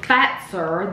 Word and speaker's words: Fazer: The company name is pronounced Fazer. That is how you pronounce it in Finland.